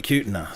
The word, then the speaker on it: Kutna: I thought it was called Kutana. I mispronounced it. There we go again. I was talking to Jimmy, the president, and he was like, yeah, it joined up at Kutna.